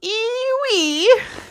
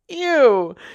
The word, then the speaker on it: ewe: you silly old thing e-w-e spells eewee see here donkey e w e spells u u or y o u spells u ha everyone knows that u is spelled y o o look u and u are two different words they sound the same but they do not